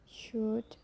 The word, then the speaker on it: should: So the letter L can be silent too. It's quite common when you look to example, like could, should, talk, walk, york, half, calf, salmon.